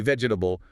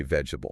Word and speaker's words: vegetable: We don't say vegetable. We say vegetable.